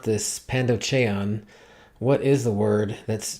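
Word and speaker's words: πανδοχεῖον: the Greek word for these ancient hotels is pronounced pandon and they liter literally translates to receives all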